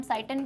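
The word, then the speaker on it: cyton: Again talking about pronunciations, it happens, कुछ teachers dendrite कहते हैं, साइटन, साइटॉन, तो इसमें डिफरेंस सिर्फ क्या है, ब्रिटिश अमेरिकन इंग्लिश, हम इंडियन अमेरिकन बोलते हैं, सो नॉट a very big deal, ठीक है। साइटन कह लो, साइटॉन कह लो, ऑलराइट।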